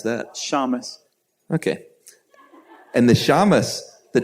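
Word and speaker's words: shamash: How do you pronounce that? Shamus.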